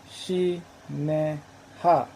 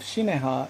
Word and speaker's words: Shinehah: the pyramid text is spelled in a way that by abraham's time would have probably be been pronounced similar to shi ne ha although they alternate in